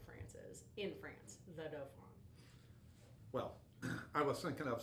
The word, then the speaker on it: dauphin: The Dauphin. That's how it's pronounced.